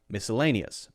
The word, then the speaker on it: miscellaneous: the schw sound and this one is very clearly the stressed syllable so miscellaneous miscellaneous miscellaneous miscellaneous okay